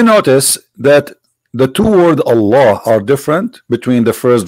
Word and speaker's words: Allah: The first one pronounced as Allah.